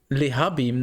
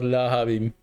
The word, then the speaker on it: Lehabim: Lehabim, not whatever the hell you wrote there. Lahab. You can't pronounce them. You're blaming me for writing them wrong. Lehabim, not Lahabim.